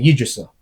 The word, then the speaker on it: Yggdrasil: Well, So- it's pronounced differently throughout. Like, who it depends on who you're talking to. Me personally, I say Yggdrasil. I've heard it said many different ways.